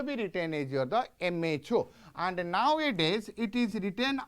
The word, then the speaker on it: mho: So if ohm you will pronounce and make it in the reverse way, that is equals to your the MHO.